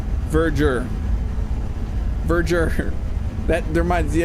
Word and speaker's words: Verdure: Verger according to the interwebs. So yeah we are saying it wrong. I have a video where I said it completely wrong. So, it's Verger.